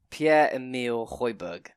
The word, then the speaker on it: Pierre-Emile Højbjerg: Pierre-Emile Højbjerg.